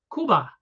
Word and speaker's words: Cuba: dream they come from communist Kuba or Cuba As Americans say he can't do this